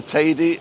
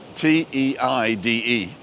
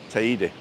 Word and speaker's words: Teide: Because in Spanish you have to pronounce every letter. So if it's T, was it T-E-I-D-E? It would be Te-I-D. Okay. Teide. Teide. So I suppose when you hear it, it does sound like lady.